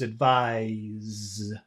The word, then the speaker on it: advise: But the accent is on the final syllable. It's never on the first syllable, ever.